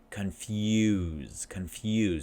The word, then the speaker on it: confuse: Now, when I say that, confuse, there's a Y sound.